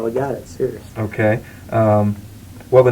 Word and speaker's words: Cyrious: Sirius. You spell it Cyrious.